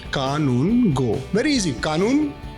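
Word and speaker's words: Kanungo: People call me Arjun Kangaroo. But my surname is pronounced कानून गो।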